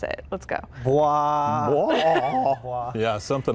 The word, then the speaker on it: BWAAA: Bwaaa. Bwaaa. Bwaaa. Yeah, something like that. The Yes. noise that Hank Hill makes, so it's like an onomatopoeia.